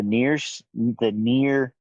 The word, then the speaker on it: NieR: Right now, I want to get into the near series, which is NIER.